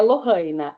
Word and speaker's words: Lorina: É Lorina, é como se fosse dois Rs.